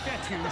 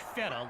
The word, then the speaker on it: Fetu: So Coach Fetu, spelled F-E-T-U, for the longest time I was pronouncing it Coach Feta, like feta cheese.